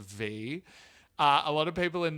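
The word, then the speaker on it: Vie: Americans saying it's pronounced Vi. But I'm sorry to tell you, but given the amount of French she leans on this album, I'm 99.9% sure it's V.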